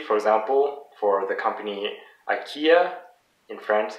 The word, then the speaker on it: Ikea: Again, notice that it's always the last syllable that is the most stressed.